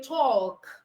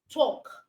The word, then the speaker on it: talk: walk you don't say talk you don't say calm all right you say walk talk come so the L in this words are silent letters all right the next